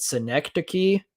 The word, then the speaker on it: Synecdoche: Is it Synecdoche, New York? Yes. Yeah. Synecdoche? Okay, Yes.